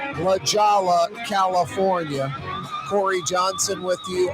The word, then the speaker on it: La Jolla: Number 9 from his casa in La Jolla. Or is it pronounced La Jolla? La Jolla, California.